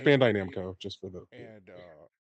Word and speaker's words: Bandai: So, one day ago, Bandy Namako Entertainment, the ones that bring us uh